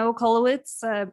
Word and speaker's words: Okolowitz: My name is Okolowitz, pronounced like Coca-Colowitz.